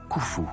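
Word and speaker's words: Khoufou: dynastie de l'Ancien Empire son nom égyptien se prononce koufou de lui il n'existe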